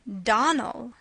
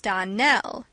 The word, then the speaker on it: Donnell: "Clarice Elmira told me that you pronounced our name Donnell. Now, Miss Shirley, the correct pronunciation of our name is Donnell, accent on the last syllable.